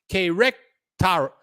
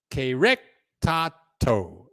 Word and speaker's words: Querétaro: Querétaro. Querétaro is how you say that city.